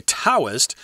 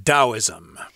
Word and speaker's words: Taoism: and sometimes of course people will say taoist which we know is wrong because we've studied chinese before but this is an old romanization system so they spell it with a t so expect to hear western people say tao or taoism when they really mean taoism yeah if they don't